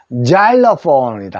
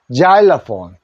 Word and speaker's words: xylophone: 실폰 실 노래 랑 그죠 실폰 치죠 그거 자일로폰이다 합니다 자일로폰 실폰 자러 자 그다음에 이제 모음자 다음에 x